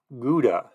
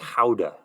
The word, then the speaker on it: Gouda: word play what is Gouda or as I've recently learned it's pronounced houda it's not bad it's good a terrible quote okay say cheese for 400.